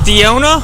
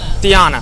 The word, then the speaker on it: Diana: Alright, Diona? Is that how you say it now? Diana.